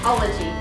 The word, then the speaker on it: Ologie: We are here in Columbus, Ohio at, and how do you pronounce this, Denise? Ologie.